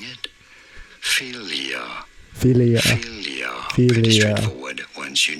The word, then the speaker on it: philia: How do you go about pronouncing it? Philia.